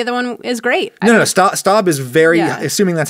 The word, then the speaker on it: Staub: No, Staub is very, assuming that's how you say it, I'm so sorry. To all somebody is very angrily typing in the comments right now. It's pronounced Staub.